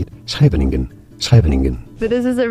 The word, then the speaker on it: Scheveningen: So here I'm in Scheveningen. Scheveningen. Scheveningen? I don't know how to pronounce it. How do you say it? Scheveningen.